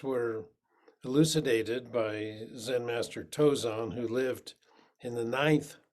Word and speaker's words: Tozan: the uh they're called the five ranks of tozon or the the chinese pronunciation is tongshong but i prefer the japanese because that's what i grew